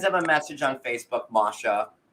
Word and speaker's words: Masha: I guess he doesn't fall for the bait left by Masha, and that Not yet, anyway. That's how you pronounce her name, Masha.